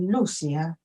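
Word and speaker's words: Lúcia: el verdadero nombre es Lucia digamos de es así como se pronuncia su nombre con el acento Lucía la madre era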